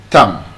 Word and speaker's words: thumb: And this. Thumb. Not thumb. It's not your thumb. It's your thumb. Thumb. The B is silent.